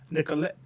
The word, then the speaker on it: Nicolette: Well, you can find me under my name, last name Ette. Nicole. Hey, you got to slow down. I went to public school. So you gotta slow down. Last name Ette. Ette. Pronounce it. Nicolette.